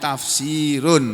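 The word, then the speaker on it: تفسير: Tulisannya tafsirun, membacanya tafsir, penjelasan, uraian.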